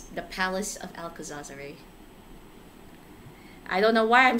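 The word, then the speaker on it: Alcazarzaray: That is actually how you pronounce the place. The Palace of Alcazarzare.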